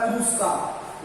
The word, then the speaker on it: पुरस्कार: अगला जो शब्द आपके पुरस्कार, तो यहाँ पर उच्चारण कई बार इसी तरह कर दिया जाता है पुरस्कार, लेकिन वास्तव में ये शब्द है पुरस्कार।